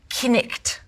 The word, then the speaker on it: knight: sounds like is to take all vowels and pronounce them as you would in French and pronounce every letter. The word for wife would be pronounced weef. The word for house would be pronounced hus. The word knight, knicht.